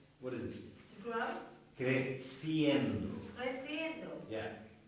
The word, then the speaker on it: creciendo: Crescendo. Who? Crescendo. Is that? What is it? To grow. Creciendo.